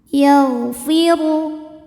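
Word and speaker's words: يغفر: Yagfiru. Huruf dbunyikan secara tafkhim sebab d berbaris di atas yaitu berbaris dammah. Cara membacanya ditebalkan. Pangkal lidah kita naik.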